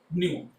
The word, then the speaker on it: nu: This is which is pronounced as nu.